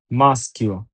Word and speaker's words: maschio: Attention, বিশেষ নিয়ম যদি এসএসজি এর পরে আক্ষা আসে তাহলে ই এবং এ থাকলেও উচ্চারণ তালিবস্য হবে না, বরং স্ক হবে। যেমন SCHI SCHIE ske, maschio, MAS mas, CHIO chio, maschio, scheda, SCHIE ske viada, scheda।